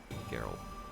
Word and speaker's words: Geralt: Yeah, there's no J. Soft G. Geralt. G like game, no G like GIF.